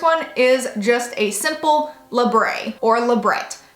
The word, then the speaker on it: labret: So the first one is just a simple labret or labret. However you pronounce it, it's technically labret.